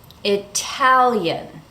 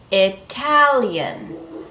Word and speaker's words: Italian: In that case, the T is clearly pronounced as a T, Italian. Why? Because the syllable that comes after the T is stressed, Italian.